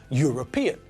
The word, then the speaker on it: European: true of the adjective European because it sounds like the first letter is a consonant we don't say earn